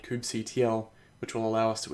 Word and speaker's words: kubectl: Some people call it kubectl, kubectl, I've also heard, but for the rest of this course we'll refer to it as kubectl.